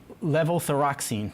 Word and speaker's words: levothyroxine: with this these new procedures and medications so level thyroxine did I pronounce that right perfect that's sort of the generic brand for a synthetic hormone correct that most patients get you know the levothyroxine is essentially the synthetic form of t4 which